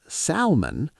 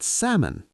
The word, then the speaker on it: salmon: Yes, many words have a silent L. Like what? Salmon. Not salmon, but salmon. Salmon.